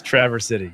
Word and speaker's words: Traverse City: absolutely no local city Traverse you're not traversing a Mountain Traverse City locals Say It That Way Out of Towners don't no okay it's Traver City shut up Richard um